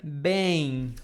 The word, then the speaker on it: bem: You have to pronounce it longer.